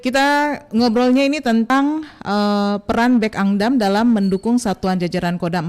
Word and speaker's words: Bekangdam: bacanya pun saya baru tahu tadi ya bahwa bacanya itu Bekangdam.